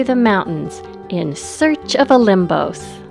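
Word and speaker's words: Όλυμπος: mountains in search of O limos not to be confused with olympos where the Greek gods rule a limos pronounced with a B is not only one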